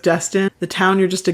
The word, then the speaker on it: Destin: And there's also like near rhymes, like the first chorus is guest in, rhyming with destin.